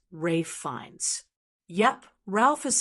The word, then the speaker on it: Ralph Fiennes: Rafe fines. Kind of surprising, right? Rafe fines is best known for playing iconic roles like Lord Voldemort in the Harry Potter series. And despite being a household name, many people still stumble over how to say it. Now you know the correct way.